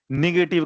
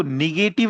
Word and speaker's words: negative: निगेटिव का 4 meaning है, ठीक है, और इसको निगेटिव नहीं बोलते हैं, इसका एक्चुअल प्रोनाउंसिएशन होता है नेगेटिव, ठीक है, नेगेटिव, निग नहीं, because we people from Bihar and यूपी वी are habitual to से इट निगेटिव, ठीक है, बट इट इज नॉट निगेटिव, it should be नेगेटिव।